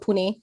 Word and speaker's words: Pune: city grew up in is is it called pronounced poon pune uh puna was old name uh but now it's called pune i was born in uh mumbai which is